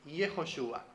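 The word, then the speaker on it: יהושע: Porque la letra Ain, que es la letra final de ese nombre, en hebreo antiguo, tenía un sonido como gutural, como entonces era Yehoshua, sonaba de una manera así, ¿no?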